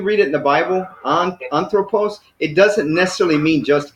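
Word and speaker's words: ἄνθρωπος: So we got anthropos. So we got 3 syllables. And the accent is on the first one. So it's anthropos.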